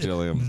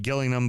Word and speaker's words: Gillingham: Fuck Gillingham. The Gills that are the Gills, because it's spelled like Gillingham, but apparently it's Gillingham, but they want to be called the Gills.